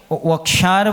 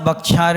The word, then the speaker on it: वक्षार: द्विप बोलना क्या बोलना वक्षार बोलना बक्षार नहीं बोलना क्या बोलना बा और व में बहुत अंतर है रसगुल्ला खाते हो जब